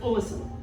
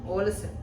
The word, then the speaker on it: Ålesund: Okay, and that is pronounced Ålesund. Ålesund. Ålesund.